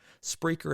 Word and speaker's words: Spreaker: the show is through spreaker spreaker is spelled s-p-r-e-a-k-e-r so like speaker with an r and that is our